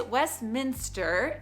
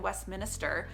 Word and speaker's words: Westminster: for it it is Westminster there's a lot of people that I hear say I live in Westminister and it's like well if you look at the spelling they're adding an additional I which I guess if